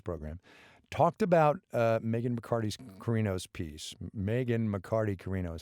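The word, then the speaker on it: Carino: portion of this program talked about Megyn Bacardi's kirino's peace Megan McCarty Kirino is how you say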